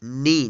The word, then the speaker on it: knee: तो आप जो हमेशा ध्यान रखिएगा, जब भी किसी वर्ड में एन से पहले के आता है तो के का उच्चारण नहीं होगा, यहाँ पे के साइलेंट रहेगा।